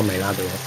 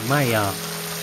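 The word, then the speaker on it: Maillard: 美拉德好像是个法国人，他的那个法语发音好像应该不叫美拉德，应该叫麦亚。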